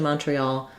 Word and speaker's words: Montreal: probably have secondary stress on that first syllable because it has the clear aw vowel. Letter O says aw. We also have a clear e in tre. Montreal also in is going to be pronounced in French by many speakers because of course they speak French in Montreal. But, this will be the American English {slash} Canadian English pronunciation of it.